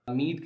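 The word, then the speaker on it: mead: सो मेडो में जो मीड का प्रोनाउंसिएशन है वो है मेड, जो कि राइम करता है डेड के साथ.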